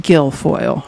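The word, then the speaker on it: Guilfoyle: Some people pronounce it gilfoil, right?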